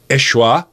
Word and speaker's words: Yeshua: also very close to Yeshua which is how you pronounce Jesus in Jesus original Aramaic tongue how Jesus would have